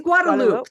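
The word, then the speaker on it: Guadeloupe: good good thanks for having me is it guadalope guadaloop it's guadaloop that's how that's how I learned how to pronounce it so you were you were not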